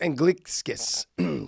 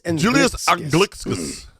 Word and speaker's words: Anglickas: It is, we used to call him Anglickas, and he was okay with it. And then Mauro Ranallo one day changed his name. Because he asked him exactly how to say it. That is not the true pronunciation in Lithuania. The true pronunciation in Lithuania is Anglickas.